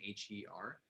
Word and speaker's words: hir: to bring up that regional pronunciations of some of these different terms can actually change. So you might see somebody using, Z here, hears, spelled HIR, but I also have heard a lot of individuals use HIR, the same pronunciation as her, and really just seeking